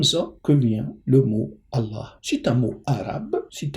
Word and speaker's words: Allah: ça dérange un peu au lieu de dire al Ilah on dit Allah tout simplement ça veut dire le Dieu et c'est comme ça que vient le mot Allah c'est un mot arabe